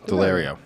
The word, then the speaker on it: Daulerio: which is AJ delario am I pronouncing it correct delario yes it is delario delario uh AJ delario